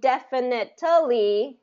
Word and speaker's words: definitely: there you go okay and it's going to be first syllable stress and that's one thing